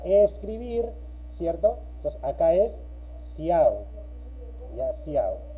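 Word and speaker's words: cout: Luego tenemos la instrucción, en este caso se lee ciao, ¿no? Ciao, pero se escribe cow, ya depende cómo ustedes lo entiendan, ¿no? Normalmente su pronunciación es ciao, está en inglés, ¿ya?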